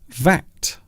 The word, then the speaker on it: VAT: It can be the acronym, and also we can pronounce it as the word VAT. It rhymes with cat.